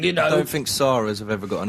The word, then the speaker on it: Sara: You're never quite sure how to pronounce it because Noel Gallagher's girlfriend, name is spelled S-A-R-A, but you've got to say Sarah.